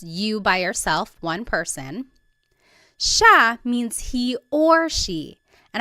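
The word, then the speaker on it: siya: It looks like it should be pronounced cia, but it's actually pronounced sha sha. There are some regions in the Philippines that might pronounce it sia, but for the most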